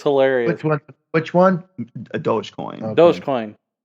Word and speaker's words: Dogecoin: which one a dogecoin does coin and it's spelled dog doggy coin but it's does coin it's those yeah i